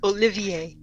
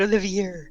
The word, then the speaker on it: Olivier: Still pronouncing that R. Olivier. Not Olivier. Oh, Olivier.